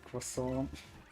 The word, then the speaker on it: croissant: My favorite part about the French language is how they don't say letters at at the end. Like croissant ends with a t, but they don't say it. They say croissant.